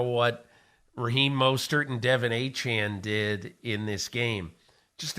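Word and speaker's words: Achane: the column was about how Devin achian actually pronounces his last name achan and I had heard uh from the Dolphins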